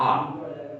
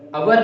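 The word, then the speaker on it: our: The correct pronunciation of this word is आर, अवर नहीं बोलना है इसको।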